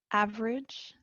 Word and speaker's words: average: Here, number 2, average, this E is silent.